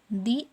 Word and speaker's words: the: तो अगर स्वर वन से हो रहा है, यहाँ पे वॉवल है, तो यहाँ पे क्या लगाएंगे हम, दी एप्पल।